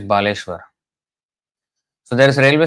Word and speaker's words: Baleshwar: um not at the station but very near to the station in Baleshwar but the way it is pronounced now is Balashur Balashwar but actually it's Baleshwar so there is a railway station named Baleshwar